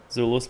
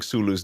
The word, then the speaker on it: Sulu: oh yeah and next we go to Zulu Zulu's place and he has like a really weird flower that very much just looks like a glove with pink stuff on it how are you pronouncing sulu's name uh Sulu okay for some reason my